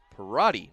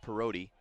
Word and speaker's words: Parody: outside corner i apologize that is parody not perroti mispronunciation there on my part